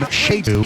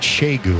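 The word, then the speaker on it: Segun: That first name, Shegu, spelled C-G-U-N. How do you get Shegu out of that, Dave Lapham? That's a good question. I'm not sure about these silent letters and silent syllables, and I don't know.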